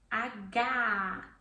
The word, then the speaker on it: H: And then we have H, which is very different from English. It's aga, it's an open vowel sound at the end.